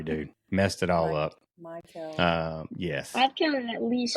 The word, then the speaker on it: Maykel: So, I mean, like, what do you feel about Major League Baseball right now, Mackay? I'm sorry, dude, messed it all up. Maykel.